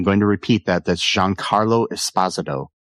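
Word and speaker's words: Giancarlo Esposito: McInley as Davis Rig Lanlow, Jean Carlo Espazado as Charlie Dunt, and I'm going to repeat that. That's Jean Carlo Espazado, not Jean Carlo Espazito as a lot of people want to say, but yeah.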